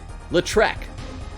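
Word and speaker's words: Lautrec: be isn't there is Toulouse latrek Toulouse not latus I said it wrong see that's just romaine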